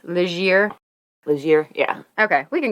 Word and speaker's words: Legere: I'm wondering, I did know somebody with that last name in school, and he pronounced it Legere. Oh, probably. I mean, he's Canadian, so French makes sense. Legere.